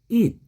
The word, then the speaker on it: eat: 발음이 약간 다릅니다. 어떻게 다르냐면 오늘 우리 공부하는 그것 하는 뜻의 it는 짧습니다. 단몸이에요. 그래서 it, 그냥 it 이렇습니다. 근데 우리 먹는다 할 때 it는요 장음이 들어가요. 그래서 eat, eat, 그것은 it, 먹는다 eat, 장음이 들어가요. 약간 길게 약간 길게 발음되죠. it, 그것은 it, 먹는다 eat, eat, 그 차이입니다.